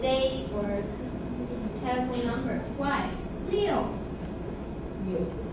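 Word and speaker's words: 六: Leo. Leo. It's similar pronunciation was this one.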